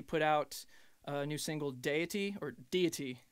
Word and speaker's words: Deity: And then just the other day, first Friday of November, we put out a new single, Deity. That's how you pronounce it. I got corrected previously.